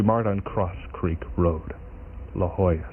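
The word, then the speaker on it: La Jolla: La Hoya. Some people pronounce that Legola.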